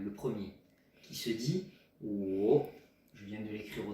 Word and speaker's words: 我: Alors, oh, W-O, troisième ton. Oh, voilà la prononciation.